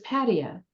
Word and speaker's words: Pattaya: And cab drivers could not take you to the place you were describing because you had the emphasis on the wrong syllable. It was Pattaya.